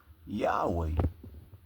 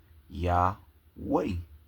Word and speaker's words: Yahweh: It also says many Greek transcriptions also indicated that Yahweh well YHW should be pronounced Yahweh.